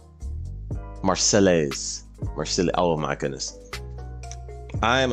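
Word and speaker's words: Marseillaise: Oh, someone gave me the correct pronunciation of her name. Marcelise.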